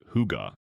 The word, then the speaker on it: hygge: Scandinavian design, and think Swedish, Norwegian, Danish, is built on the concept of hygge, pronounced huga.